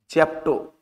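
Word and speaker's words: zepto: उसके बाद जेप्टो है, जेप्टो, इसको जेप्टो देखिए हिंदी में भी लिख देते ताकि आपको पढ़ने में दिक्कत नहीं हो।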